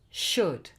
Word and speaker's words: should: Other ways of producing like in those modals, could, would, should, where the OU produces the sound and the L is silent. Remember that. The L is silent. It's not cooled or wooled or should.